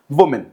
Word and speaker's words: woman: So pronunciation plural का है women, और singular का जो pronunciation है that is woman. That is woman.